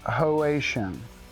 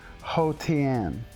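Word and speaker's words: Haotian: there oh and yeah it is not pronounced hoan it is pronounced hotan up down what up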